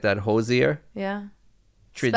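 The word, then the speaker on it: Hozier: pronounced Hoosier. Who's Yeah. Hosier. Yeah. Like knock knock. Who's there? No, Hoosier. You know that joke? No. Yeah, that's how you pronounce it.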